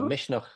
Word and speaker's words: Misneach: Irish uh music festival which I pronounce as Mish but you have a better pronunciation yeah Mish is the Irish word for courage so Mish yeah yeah and this is the first time